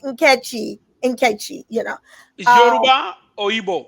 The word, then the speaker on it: Nkechi: So it looked like Nkechi, so that's how I pronounced it. Actually, if I were in Nigeria, it's a Nigerian name, it would be pronounced Nkechy.